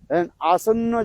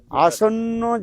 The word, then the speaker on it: आसन्न: तिजग जनी प्राप्ति लालसा आसन्न जनता हित विोलन याद रखना क्या बोला आसन्न जनता हित विोलन आपके उच्चारण नहीं आसन अरे संस्कृत शब्द है आसन्न जनता हित विोन रहने